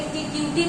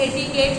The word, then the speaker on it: etiquette: Okay, एक है इटिकेट होता है, वैसे तो इसको देखिए क्या पढ़ा जाएगा, कई लोग इटिक्यूटी पढ़ लेंगे, लेकिन एटिकेट होता है।